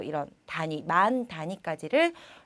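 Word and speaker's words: 万: 약간 일본식으로 발음해 주시면 되는데요. 자, 그런데 여러분께서 보시면은 얘는 그냥 만이 아니라 앞에 이치라는 게 붙었어요. 네, 그렇습니다. 자, 만 같은 경우는요. 1만을 얘기할 때는 꼭 이치라는 꼭 숫자를 넣어 주셔서 발음을 해 주셔야지만 올바른 읽기가 되는데요.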